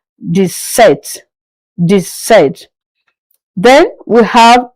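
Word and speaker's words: sept: Seven is set without the P pronounced set.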